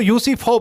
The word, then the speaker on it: Euthyphro: A famous paradox called, जो ये लफ्ज़ जो है इसको यूसीफो पढ़ते हैं, EUTHYPHRO।